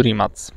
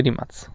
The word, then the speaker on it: Rimac: będziemy zwiedzać fabrykę samochodu Rimac. Po ich niemu wymawia się Rimac. Po angielsku to Rimac, nie? Ale to tak jak mówisz Dacia na dacie, nie? No. Więc raczej wymawia się w języku oryginalnym, nie?